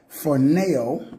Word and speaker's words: phroneo: We'll get the correct pronunciation. I think it's phroneo, but let's break it down here.